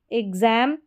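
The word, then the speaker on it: exam: आप खुद खुद से प्रोनाउंस करें। एग्जाम यहां पर देखिए एग्जाम है यहां पर बॉक्स फिक्स मिक्स एग्जाम एग्जांपल तो इस तरीके से एक्स के दो साउंड हैं।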